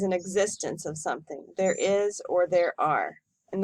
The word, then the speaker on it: hay: existence of something there is or there are and the pronunciation of this is I not hey the two questions we're